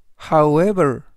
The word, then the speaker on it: however: 첫 번째 단어로 However However However이라고 발음하시면 되겠고요 이때 강세는 W 뒤에 있는 이의 강세가 있습니다 그래서 However이라고 발음하시면 좋겠고요 품사는 부사 뜻은 그러나